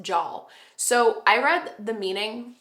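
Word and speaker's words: żal: And this is actually a Polish emotion, and it's pronounced Jal.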